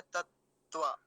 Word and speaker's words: तत्व: अब तत्व में एक काम की बात ये है कि 2 तकार हैं और दोनों ही कैसे हैं? हलंत हैं, आधे हैं। तो उनका दोनों का ही उच्चारण बहुत कम समय के लिए होगा।